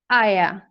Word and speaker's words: Eier: Or for example, the word X, you know, in German, it's Eier, and it's spelled E-I-E-R, Eier.